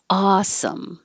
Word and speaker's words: awesome: Awesome. The vowel is ah, awesome.